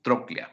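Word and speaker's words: tróclea: y la famosa troclea no troclea así se pronuncia y se escribe trocela pero se pronuncia troclea no la troclea femoral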